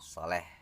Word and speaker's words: Salih: menjadi anak sholeh Hai tulisannya Salih tapi cara membacanya Soleh itu yang baku ya Oke kita lanjut ke